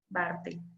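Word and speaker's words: Barthel: La Bartel se escribe B de burro, A, R, T, H, E, L. Bartel.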